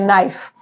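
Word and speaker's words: knife: रहेगा next word है नाइफ नाइफ नहीं इसे पढ़ते हैं क्या पढ़ते हैं नाइफ तो नाइफ में जो के है वो साइलेंट रहेगा लिखा जाएगा लेकिन पढ़ा नहीं जाएगा ओके जैसे वर्ड है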